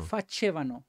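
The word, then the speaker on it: facevano: Fasevano, acuérdense que es con C, se se pronuncia como che, ¿vale?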